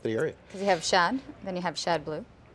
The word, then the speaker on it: Schad: kind of develop the area because you have Shad then you have Shad blue am I saying